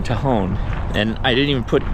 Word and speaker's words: Tejon: So I know I've been saying the name wrong, Tejon.